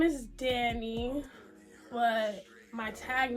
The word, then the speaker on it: Dhani: perfectly fine too but my name is Danny and I spelled like Danny Phantom and I spelled like Danny as in Danielle d h a n i yeah very different and